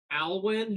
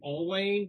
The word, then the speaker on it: Alwyn: We've got Alwyn, who I've been calling Alwayne.